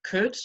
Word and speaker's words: could: Okay, so the L is silent. Okay, and that's the same for other modal verbs like could, which you can also see in this, and should.